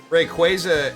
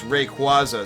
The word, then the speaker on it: Rayquaza: Rayquaza, I know it's the official pronunciation on that one, but I will still refuse because Rayquaza sounds cooler and makes more sense for the spelling.